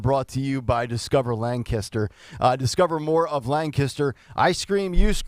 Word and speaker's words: Lancaster: it three different ways Lancaster is it Lancaster is that what we're saying l-a-n-g and then kiss and then ter t-e-r Lang history so we you added G langister yeah like Kenny G